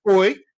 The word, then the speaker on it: hoy: What do we say hoy was? Somebody type in the chat so that we can all know what hoy means. Remember, the H is silent.